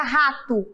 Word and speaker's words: rato: Vocês saberiam que é com O ou com U? É com O, porque às vezes o O também terá o som de U.